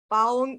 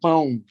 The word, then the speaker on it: pão: It has the pão. I went on YouTube and I looked up how to say these words, and I was like, yeah, I'm going to make sure I'm pronouncing these right. And you got to be careful because like pão could mean like dick, depending on how you say it. Like, so yeah, you could put yourself in a couple of weird situations if you don't say that right.